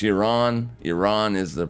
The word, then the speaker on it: Iran: Iran is the pronunciation.